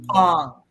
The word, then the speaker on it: Aang: So I said, oh, you've got Aang's tattoo, right? Because I thought that's how he pronounced. And then Philip just went, Ong.